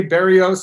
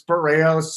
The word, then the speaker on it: Barrios: The only 2 mispronunciations, JSU, you always say Barrios, it's Barrios. I don't expect you to get it right.